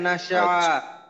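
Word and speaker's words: نسعى: এই প্রত্যেকটা কিন্তু সিন এখানে, ওয়া নাসজুদু ওয়া ইলাইকা নাসআ, এখানে যেন নাসজুদু না হয়, নাস বললে কিন্তু সিনের উচ্চারণ হবে, তো সিনের উচ্চারণ করতে হবে নাসজুদু ওয়া ইলাইকা নাসআ। আচ্ছা আবার ওয়া নাসজুদু ওয়া ইলাইকা নাসআ ওয়া নাহ।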